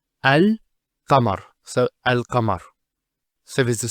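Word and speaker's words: القمر: How do we pronounce this? It's al-qamar.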